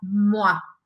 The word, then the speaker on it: moi: ter um verbo depois, mas que você responda moi, moi, que se escreve M-O-I.